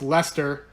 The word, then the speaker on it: Leicester: from like a steel City pronounced Lester so you may recall